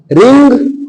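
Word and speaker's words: wring: मीस नि चोड़ना ठना रिंग रंग रंग रिंग हा यहां डब्लू साइलेंट आगे देखि स्ट्रंग वर्ब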